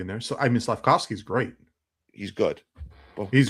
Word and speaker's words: Slavkovsky: How you pronounce his last name? Slavkovsky. Yeah, Slavkovsky.